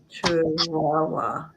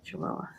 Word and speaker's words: Chihuahua: Chihuahua. Thank you. Okay, Chihuahua.